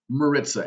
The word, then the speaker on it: Maritza: Maritza. It's Marissa with a Z.